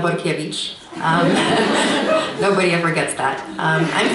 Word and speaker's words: Borkiewicz: you for that introduction my name is actually pronounced Vukovich nobody ever gets that